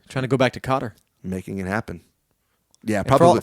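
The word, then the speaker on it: Kotter: it yeah welcome back Carter not Carter Cotter it's important you spell that right k o t t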